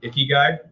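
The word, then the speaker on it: ikigai: every day and then um i think i pronounced this right icky guy is the other one and it's basically the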